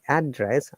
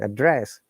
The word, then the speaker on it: address: at this interesting part when i'm saying address i'm stressing on the fast part which is unknown when i'm going to use as a verb i have to stress on the second part address so second part address